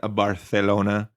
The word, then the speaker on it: Barcelona: It was hosted in Barcelona this year. Yes, I used the Spanish pronunciation.